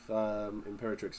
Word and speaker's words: Imperatrix: Yeah, I believe Imperatrix is pronounced dominatrix as well.